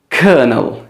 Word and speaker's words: colonel: है, आप देखें COLONEL, इसको आपने कर्नल बोलना है. क्या बोलना है? कर्नल. इसमें आर नहीं है, लेकिन फिर भी इसमें जो वॉल साउंड है that's bird sound, sound. So the correct pronunciation of this is कर्नल.